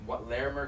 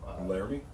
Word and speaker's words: Laramie: Laramie? Laramie thing. I was called Larimer for some reason. Isn't that how it's spelled? It's in Wyoming. Nobody lives there. Nobody. Doesn't it look like Larimer? No. Like I-E-R? I don't think it does.